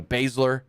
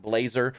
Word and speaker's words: Baszler: He butchered the Baszler name. It's like Bowser or something like that. Blazer. Oh, that's what it was. He said Ronda Rousey and Shayna Blazer.